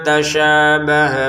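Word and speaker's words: تَشَابَهَ: Zaighun fattabiuna ma tasyabaha minh. Nah, u dua harakat panjang nanya pendek. Ma dua harakat panjang ta pendek syinnya panjang kemudian h-nya pendek.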